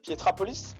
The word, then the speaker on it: Pietrapolis: - D’accord donc ça c'est la partie Pietrapolis, je le prononce bien?